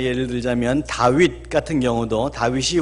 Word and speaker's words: 다윗: 그러니까 예를 들자면 다윗 같은 경우도 다윗이 원어 발음에 맞지요. 우리 발음이 원어 발음에 맞게 되어 있습니다. 영어 발음에서는 데이빗 그렇게 하고 있죠.